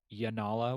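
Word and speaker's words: Janala: There's even a comment, the girl that Adolin is with, is her name pronounced Yanala with another Correct.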